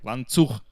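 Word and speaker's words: Ланцуг: Lanzug. The stress is on the second syllable. Lanzug.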